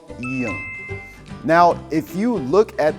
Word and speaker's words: 이응: When 이응 is at the bottom, it has kind of like a ng, the English ng sound.